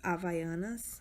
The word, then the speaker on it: Havaianas: The same friend gave me these Havaianas. I know you might pronounce it differently, but this is how we pronounce it.